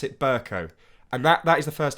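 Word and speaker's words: Bercow: time, I have re-recorded the first part when I say Burko, and I pronounce it Burko.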